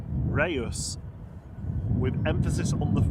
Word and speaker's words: Reus: Chat GPT says Reyes, the city in Spain, is pronounced Ryus with emphasis on the it's two syllables, stress on the first syllable, rehy dash os.